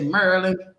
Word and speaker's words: Maryland: from maryland from maryland you know they don't say maryland they say merlin fort worth in the